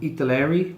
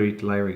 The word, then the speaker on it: Italeri: Airfix guy, and another Italeri guy. Now this Italeri, that's the you brand. say Italy in a weird accent. Yeah, you sound Italian when you say it, if you say it correctly.